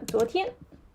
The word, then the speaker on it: 昨: For yesterday we say 昨天 Okay, 昨 yeah, 昨天 yeah. 昨 yeah, how to pronounce it? So we need to pronounce it clearly about the z and then o rising tone.